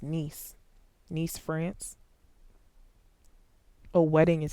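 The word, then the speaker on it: Nice: Uh it's pronounced niece.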